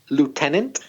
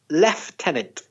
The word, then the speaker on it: lieutenant: gonna say two things first I'm gonna say lieutenant and then I'm gonna say leftenant because I've heard both pronunciations have you Craig yeah me too the spelling is only one which is l IE u t en a and t the logical kind of pronunciation the logical one is lieutenant but some British people say leftenant with a sound in the middle after lieutenant there's captain